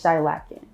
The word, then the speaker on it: Shilaken: A lot of people don't know how to pronounce it, so it's Shilaken, Shilakan, like it's too many versions of it, but the real way to say it is Shilaken.